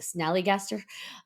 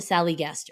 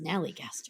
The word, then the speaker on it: Snallygaster: I always say it wrong. The Snallygaster, and I want to call it the Sallygaster. It's a Snallygaster.